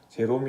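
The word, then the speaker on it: Hieronymus: 위대한 언어학자 4세기 교부 히에로니무스 라고 하는 분이 있습니다 영어 발음으로는 제롬 이라고도 하고요 뭐 예로 니 뭐 이런 발음으로 도 불리기도 하는 분인데요 이 히에로니무스 2분이 회심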